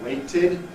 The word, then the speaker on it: waited: You can hear that waited is two syllables. Wait, id, waited.